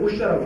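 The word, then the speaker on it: 巫峡: 우당협 그 다음에 무협은 우샤라고 하고 시링샤 서령협 그 서령협은 중국 발음으로 시링샤라고 하는데 이 세 개의 협곡을 막은 것이 삼엽댐입니다.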